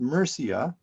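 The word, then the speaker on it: Murcia: in the town of Mera in andalo now pronounced merca which is in the Southeastern section of present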